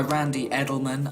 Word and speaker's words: Randy Edelman: The music is by Randy Edelman.